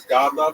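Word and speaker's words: Godlove: speaking of last names my last name is God love it's spelled just like it sounds God In Love um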